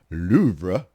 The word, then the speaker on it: Louvre: Linguists explain that English speakers often add an extra syllable to the listing or pronounce the R wrong, a bit too strong, if you will, while correct French pronunciation is more close to Louvre.